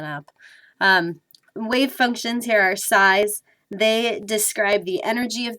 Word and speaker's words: psi: And essentially, I'm not pronouncing the P, I'm just saying psi.